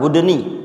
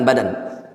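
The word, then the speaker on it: البُدْن: Ikhlaskan salat untuk Rabbmu dan menyembelih al-budun, afwan, wa nahral budni, itu bacanya budni bukan badan.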